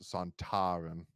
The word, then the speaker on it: Sontaran: more a Saran but uh but Kevin Lindsay pronounce it more as santarin which is why we got the pronunciation that